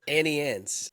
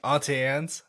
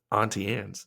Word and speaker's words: Auntie Anne's: I've heard some people called it Auntie Annie's, and I'm like, that's not right. There's no I in That's there.